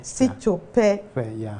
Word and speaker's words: Sitope: but I know after this, I'm going to pronounce it outside the screen. And very well I'll do it. Paul Sitope. Sitope.